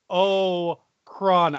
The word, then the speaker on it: Holocron: Holocron. I know it's 3 syllables, but try.